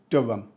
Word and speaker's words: Durham: the northeast of England correctly pronounced this is Durham we do not say Durham or Duram even the queen wouldn't pronounce the h here so if you're doing it you're being way too Posh Durham Cathedral is stunning